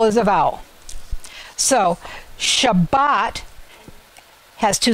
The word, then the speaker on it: Shabbat: the word Shabbat shot in Hebrew it's the last syllable that gets the emphasis so it's not Shabbat it's Shabbat so when you're reading Hebrew